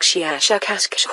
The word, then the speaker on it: Shiashakask: Our language is very different from yours, but my name is, I will try to say it smoother by use of your human letters, something like Shiashakask with a very, very strong pronunciation of the SH and K sounds.